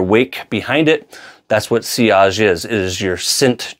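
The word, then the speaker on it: sillage: touch base on is seage and longevity. Seage is a French word meaning uh, wake. It's not pronounced silage like it looks like in English English. It is a French word seage.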